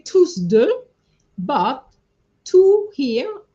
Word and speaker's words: tous deux: Tous deux, I didn't say tous deux, but two here, even though the S is not pronounced, you need to remember it's an S at the end here. Tous deux.